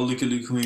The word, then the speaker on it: Lucky Luke: Lucky Luke, if you pronounce it all correctly, but you know Dutch Belgian people, Looky Luke is kind of how we say it.